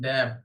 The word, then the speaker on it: deaf: उसको बोलते डम एंड डेफ।